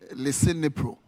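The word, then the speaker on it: Lisinopril: Beg my pronunciation. Leipro tablets.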